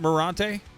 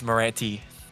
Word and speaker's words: Moranti: say your last name is it morante it's moranti Moran okay well you're